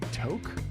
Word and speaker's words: toque: Toque, pronounced toque.